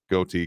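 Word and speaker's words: ghoti: nonsensical language because yeah goatee can be pronounced as fish if you take it from like enough and anyway I won't get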